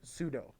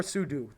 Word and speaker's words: sudo: It literally means super user do, sudo, or sudo. Some people pronounce it that way, but I think they're weird.